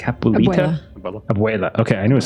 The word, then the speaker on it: abuela: Abuela.